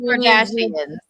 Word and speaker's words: Kardashian: All Like of the Kardashians. Yes, all Armenians' names rhyme with Armenian.